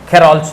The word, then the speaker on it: Kohlrausch: Heading डालिए खेरॉल्स law, heading डालिए खेरॉल्स लॉ। के स्पेलिंग ध्यान से देखिएगा, KOHLRAUS CH apostrophe S लॉ, खेरॉल्स लॉ, खेरॉल्स लॉ।